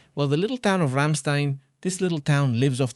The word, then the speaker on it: Ramstein: Ramstein. This is Ramstein, right? Like the band, right? Yes, that's it. Here's the base, one of the most important. Well, the little town of Ramstein, this little town lives